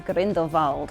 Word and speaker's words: Grindelwald: fantastic beasts sequel somehow lore decided to pronounce Grindelwald as corinth evolved which nobody else had before him including everyone